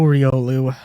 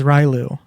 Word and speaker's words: Riolu: pass pass pass row Riolu when I was when I was a wee bun um I I mispronounced ryolu as rylu um and even when